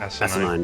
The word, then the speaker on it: asinine: Oh god, how do I pronounce that word? Asinine? Asinine, yeah.